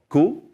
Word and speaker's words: cu: The letter Q is called cool.